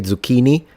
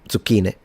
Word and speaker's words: zucchini: Believe it or not though, sometimes the American pronunciation is closer to the way we say some things in Italian. For instance, how in American you say zucchini and in uh in England they say corette uh in Italian it's zucchini.